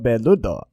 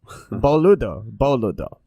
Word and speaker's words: boludo: In Portuguese, we pronounce it as no hablo beludo. Boludo.